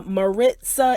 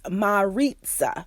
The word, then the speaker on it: Maritza: not mckenna but mccaina and then uh marissa is maritza so maritza apparently mccaina is a swahili